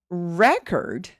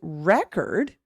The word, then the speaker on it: record: So when I say record, record, look how much longer the record, the syllable record is. Now, when I have record, the syllable cord is going to be longer.